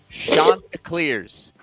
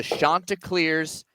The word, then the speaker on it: Chanticleers: The Coastal Carolina, listen to me say it, folks, Chanticleers. It is the Chanticleers, not Chanticleers, not Chanticleers. Who was saying it wrong?